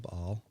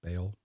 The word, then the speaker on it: Baal: And while a lot of people have heard the story of how Elijah defeated the prophets of Baal, or Baal, depending on how you pronounce that in English-speaking countries, a lot of